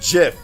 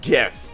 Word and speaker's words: GIF: times they are wrong it is a soft g pronounced jiff so yeah yeah so